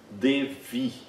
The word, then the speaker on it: Devi: Ou então, Devi. Devi. Nesse caso, Devi, né? É um ser divino feminino. A semivogal está entre duas vogais, então ela tem o mesmo som do nosso V.